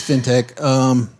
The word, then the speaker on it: fintech: No, it's fintech. There's no E in it. It's fintech.